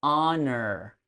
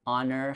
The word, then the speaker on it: honor: So, it should be honor. Although, uh it she was able to successfully eliminate the h sound. It's correct. Uh the word honor has no h sound.